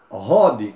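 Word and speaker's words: Hod: Rod, H aspirado, né?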